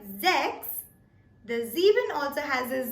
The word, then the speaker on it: sechs: So 6 in German is pronounced as sechs. Sechs. Even though the spelling says S-E-C-H-S, we pronounce it as z with sechs.